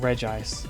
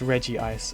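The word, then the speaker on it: Regice: want to pick up it's not reg ice it's Reggie ice otherwise it's not the Reggie Trio it'll be the reg Trio I don't know why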